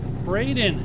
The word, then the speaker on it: Braden: Hey, Brendan, what's up? Brandon? Braden. Braden. That is how you say that.